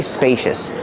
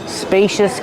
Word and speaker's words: spacious: Use a long A like pay and say. Spacious. The C makes a sh sound like shoes and show. Spacious. Use a relaxed sound at the end.